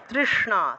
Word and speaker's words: तृष्णा: या देवी सर्वभूतेषु তৃষ্ণা, তৃষ্ণা মূর্ধন্যস্ব, তৃষ্ণা এইভাবে জিহ্বা উল্টে, মূর্ধন্যস্বের উচ্চারণটা জিহ্বা উল্টিয়ে করতে হবে।